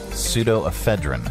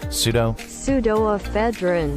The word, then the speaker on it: pseudoephedrine: Okay, so how do you pronounce this one? Pseudoephedrine. Okay, now that I can pronounce that one. Pseudoephedrine.